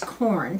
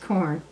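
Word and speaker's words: Quorn: Now, one of my very favorite companies, Q-U-O-R-N, it looks like Q-O-R-N, but it's corn, pronounced corn.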